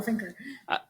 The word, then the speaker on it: Fincher: Ariana Jers and Katie Fincher, I think is how you say her name. Finker. There we go, Finker. So have they decided on a school yet?